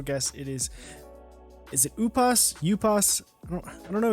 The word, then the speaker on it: Upas: say it I mean when I first started was it was you pass but like you pass this what it is I guess okay it's just way most people pronounce it so he's the the